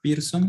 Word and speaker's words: Pearson: coeficiente de correlación de pearson por cierto se pronuncia pearson aunque se escribe a apearse y se representa